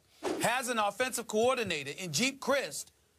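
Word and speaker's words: Geep Chryst: But Colin Kaepernick, the quarterback, has an offensive coordinator in Jeep Christ. I believe that's how you pronounce his name. Right. G-E-E-P. Yep. Jeep Christ. You got it.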